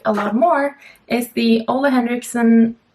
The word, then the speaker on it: Ole Henriksen: lot more is the Ole Henriksen. Why am I pronouncing that? Like, not the way it's supposed to be, Ole Henriksen. That's like how I would pronounce it in Norwegian and Danish.